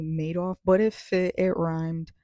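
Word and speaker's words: Madoff: I think I said Bernie Mattov's name wrong. I think it's pronounced Bernie Maidoff, but it fit.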